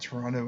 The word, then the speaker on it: Toronto: even with toron WIS most who live in the city won't pronounce the r but if you live outside the city or live in the GTA greater Toronto area remember they say it with the T So as somebody who